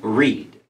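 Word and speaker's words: rede: wrecks not his own reed. Okay, wrecks not his own reed. Reed is the same. There, it's spelled R-E-D-E, same as reading.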